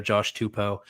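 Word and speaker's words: Tupou: So, we do have the official pronunciation there, Josh Tupo.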